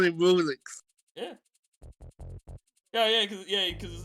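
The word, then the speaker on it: Rouxls: but we will still call him Rulix. Yeah. Because his name is pronounced Rules, but no, it's Rulix.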